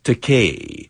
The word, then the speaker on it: Takei: I told him, Bill, it's Takei. It rhymes with toupee.